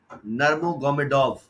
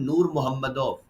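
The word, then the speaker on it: Нурмагомедов: उसका नाम है खबीब नर्मोगोमेडोव। ये रशियन फाइटर है, लेकिन जब ये अपना नाम प्रोनाउंस करता है तो ये कहता है कि मेरा नाम है खबीब नूर मोहम्मदोव।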